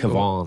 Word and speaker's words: Kevan: So it's like Kevan. It's like a van.